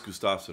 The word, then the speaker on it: Gustafsson: picking Gustafson by decision the proper pronunciation is Gustafson right from a swed uh Gustafson gusta the son of gusta the F exactly that's